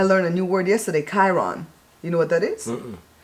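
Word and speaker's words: chyron: Chiron. Chiron. I guess it's spelled Kyron. I don't know. I didn't look up the spelling. It's Chiron. It's not sky. It's Chi.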